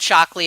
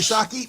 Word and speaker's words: Shockey: You said Shockley again. Oh, Shock. I'm sorry. I just see the L there. Thocky. Sorry, Shockey, man.